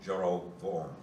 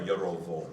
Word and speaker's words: Jeroboam: it doesn't really, in Hebrew it'd be Rehoboam and Jeroboam, So be, or Yerovoam.